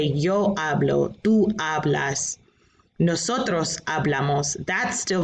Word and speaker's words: hablo: the um alphabet yet notice the h in that word is silent so you don't pronounce the h's in spanish all right so take